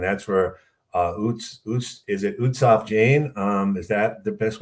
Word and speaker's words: Utsav Jain: the morning and that's where uh is it utsaf jane um is that the best way to pronounce it yes so we were just talking